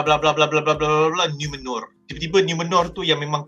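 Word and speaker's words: Númenor: First part adalah for some reason, aku tak tahu kenapa, aku suka cara dia orang pronounce NUMENOR. Macam nipis je, macam best. Okay. Dia roll R.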